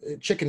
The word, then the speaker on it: CHKN: Chicken in this case is CHKN, and that's how it's spelled.